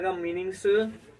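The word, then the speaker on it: calm: क्या पढ़ेंगे कॉम तो इसमें क्या साइलेंट है इसमें बी साइलेंट है जब भी एम के साथ बी आता है तो बी चुप हो जाता है ठीक है तो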